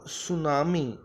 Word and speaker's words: tsunami: और आज हम करेंगे क्लास 8th का लेसन नंबर 2 जिसका नाम है द सुनामी। यहाँ पर टी साइलेंट है, ये बोला नहीं जाएगा, सिर्फ स्पेलिंग में आएगा।